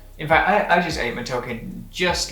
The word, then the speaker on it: matoke: I think it's matoke, would be the proper way to pronounce it.